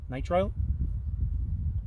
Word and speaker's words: nitrile: bandage you got a set of um I pronounce the word wrong all the time Night Nitro night nitrite nitrile clip non-latex gloves then you have a chest